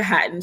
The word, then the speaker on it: Hatton: So that's kind of where the book title is really intentional because it's Naya Hatton. So the last name was literally just to rhyme with the word satin.